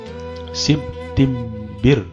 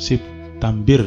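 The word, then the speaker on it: سبتمبر: Septimbir, Septimbiru, kan enggak enak bacanya. Ya, enaknya disukun berakang. Septambir kalau di sini ya. Septambir. Okay. Bukan Septimbir ya. Septambir.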